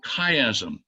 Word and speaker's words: chiasm: I know Tyler and Joe have heard about it, but the concept is called chiasm, and it's spelled C-H-I-A-S-M, because there's a letter in the